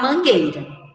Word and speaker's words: Mangueira: som do uh-1 huey não escutamos o som do u na palavra Mangueira agora meus amores ainda